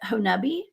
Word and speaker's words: Honobia: name right tonight and i know the locals call it honubi it's spelled henobia everybody